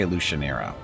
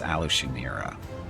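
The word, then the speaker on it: Alushinyrra: name of the city I say illusionera but it's Aloo shimira okay I'm asking for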